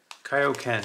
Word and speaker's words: Kaioken: You know, you hear it, and then you see it, and you're still like, Kaioken. That's how you pronounce that, Adam.